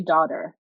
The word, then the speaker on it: Daudir: in an American accent, I would say daughter, like Daudir.